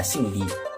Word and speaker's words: 李: 리. 성이 리입니다. 리 같은 경우에는 성조가 못하면 삼성이에요. 그래서 보통 리 이렇게 합니다. 리 성조가 리.